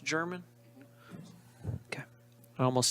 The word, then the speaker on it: German: Is it pronounced German? Okay. I almost said Germain, and I was like, it doesn't have an I.